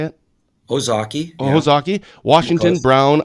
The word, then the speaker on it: Ozaukee: These 5 counties, Brad, I don't know how you pronounce this one. Ozaukee, is that how you say it? Ozaukee.